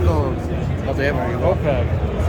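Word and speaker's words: Ampeg: How do you say it? UPEG or OPEG? OPEG. OPEG. You want OPEG? Oh, PEG. Yeah, from England, someone called UPEG. UPEG, But yeah.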